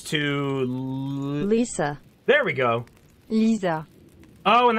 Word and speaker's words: Lisa: Lisa. Oh, and that's how you pronounce it too. There's no G sound. Lisa. Yeah. Lisa. It's just Lisa.